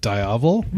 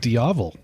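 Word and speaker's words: Diavel: You pronounce it Davl. I pronounce it Diavo.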